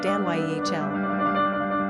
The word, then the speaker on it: Danielle: Pronunciation, daniy'el.